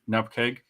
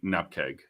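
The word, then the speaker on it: nupkg: uh speaking in normally it it is npeg that I say uh but if I am depending on stop there it's enough just in in casual conversation it is normally NP keg um if I if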